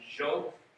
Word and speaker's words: Dio: And so the word that you will notice as Dio is actually pronounced with J sound, Jo.